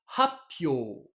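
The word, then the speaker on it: 発表: Quand on les a mis ensemble, ça nous donnerait logiquement hatsuhyo. Mais hatsuhyo, c'est super compliqué à prononcer pour un japonais. Du coup, le mot Ouais. a été transformé avec l'accent sur le hi, Atsupio pour le hein, sur le moment. hyo, qui devient hatsupyo. Et puis le Ouais. tsu, on en a aussi fait une pause. Du coup, Et notre Apio. hatsuhyo devient happyo.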